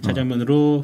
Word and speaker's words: 자장면: 아니야 자장면이 아 예 요즘 사실 원래는 발음이 자장면이 예 자장면으로 써야 됩니다 끝나고는 방송 끝나면 야 짜장면이나 한 그 먹자 어 짜장면이라고 꼭 하라고 그랬어 예 지금 사실 이제 다 짜장면은 이제 상관없게 됐죠 이제는 이제는 괜찮아 이때 당시에